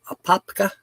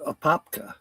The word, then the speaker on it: Apopka: Then I'll be there till noon the next day, and then heading to Apopka.